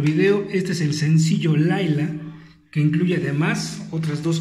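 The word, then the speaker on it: Lyla: Lila dice ahí, pero se pronuncia Laila.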